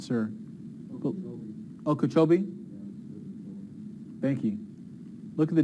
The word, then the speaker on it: Okeechobee: could they get cheeky kabhi I'm not sure Okeechobee thank you look at the difference there it's